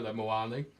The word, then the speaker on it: Muani: we've covered him before rhymes with panani um so like BL you little so and so what did Bloody fabito say all right I got some stats on Co moani on the left is